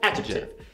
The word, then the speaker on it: adjective: A palavra adjetivo no inglês é adjective. Adjective. Você tem três sílabas. Adjective. A gente quer falar adjective. Porque no português é adjetivo.